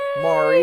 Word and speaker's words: Maree: And by popular demand, Mari is here.